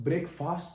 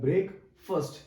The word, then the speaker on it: breakfast: ब्रेकफास्ट, ब्रेकफास्ट नहीं बोलते हैं, प्रोनाउंसिएशन उसका होता है ब्रेक फर्स्ट। ये मैंने लिखा है आपको समझाने के लिए, प्रोनाउंसिएशन ये होता है ब्रेक फर्स्ट, ब्रेक फर्स्ट, ठीक है ना।